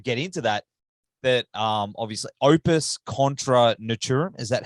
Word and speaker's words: Opvs Contra Natvram: Just as you read it. That's it. Well, I mean, it's Latin, you know. So I mean, obviously, you know, like American speaking people, like English speaking people will try to make it sound something else. Yeah. But it should be very hard. It's Latin. I mean, no one knows how people pronounce Latin because there's no sources really. But I just say Opvs Contra Natvram.